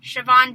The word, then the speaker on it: Siobhan: bigness but it's a separable say her name shavon shavon davis um yeah i don't have to make